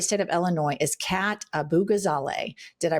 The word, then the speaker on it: Abu-Ghazaleh: And one person we have our eye on from the great state of Illinois is Kat Abu-Ghazaleh. Did I pronounce that correctly?